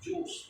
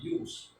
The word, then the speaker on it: jus: Now it's not pronounced as juice, no, but jus.